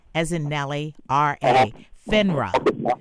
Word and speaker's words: FINRA: So if they're not a member of FINRA, you don't want to work with them.